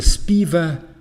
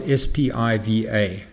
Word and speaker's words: SPIVA: The third thing I'd like to draw your attention to under this general category is something called the SPIVA scorecard. SPIVA is spelled S-P-I-V-A.